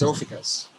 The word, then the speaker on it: Ophiuchus: It's Ophiuchus.